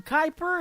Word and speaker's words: Kuiper: on triple play Thursday her name is Kristen Kuiper it is spelled a little bit different it is K